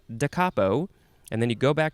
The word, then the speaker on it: da capo: first word and then c-a-p-o it's not capo like i thought it would be decapo adverb or adjective from